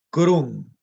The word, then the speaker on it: crum: Y efectivamente la val sería en crum, que es con la nasal velar.